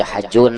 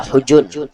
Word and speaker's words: Hujun: Ada yang membaca Hajun, ada yang membaca Hujun. Orang Arab biasanya membacanya Hujun, kampung Hujun.